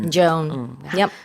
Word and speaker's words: Joan: Joan. Yep. 하나의 사운드로 OA를 묶어서 발음을 해요. Yeah, it's like Joan of Arc.